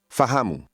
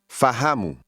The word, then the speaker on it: fahamu: Fahamu. Mu. Mu. Ha. Hamu. Fa. Fahamu. Fahamu. Did you hear the stress in the middle of that word? Say, understand. Fahamu.